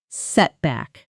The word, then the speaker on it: setback: Notice the compound stress. Setback. Both parts clear but the first slightly stronger.